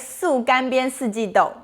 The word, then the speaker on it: 素干煸四季豆: The word of the day today is 素干煸四季豆, vegan dry fried green beans.